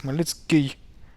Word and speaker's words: Khmelnytsky: Then Ny, Y, we talked about the Y sound. It's Ny, Ts. And then we have again Y. But here we should have something like this, Khmelnytsky.